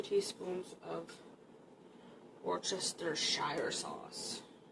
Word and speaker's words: Worcestershire: So I'm going to add 1, 2 teaspoons of that, and 2 teaspoons of Worcestershire sauce. I always call it Worcester sauce. There's like a million other ways that people pronounce it, but anyways.